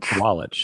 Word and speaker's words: Sawalich: This young driver from Minnesota, William William Sawalich. Swallich, that's how you pronounce it.